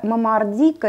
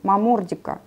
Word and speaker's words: момордика: всевозможных названий можно привести правильное название это момордика или момордика вот сразу об этих двух вариантах произношения по-латыни ударение на второй слог момордика но у нас средней полосе как-то вот принято называть именно момордика и я от скольких